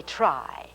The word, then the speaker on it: try: vowel in the word here it is t r y it has the long i sound because there is no other vowel in it now let's